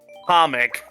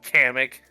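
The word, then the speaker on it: Kamek: people really like Hamrick by the way it's uh comic not hammock did someone actually give up official pronunciation or something well that's what the I think that's a meme but gosh dang it like they I don't know man they uh they said it in the Nintendo director they pronunciated it a comic I was like what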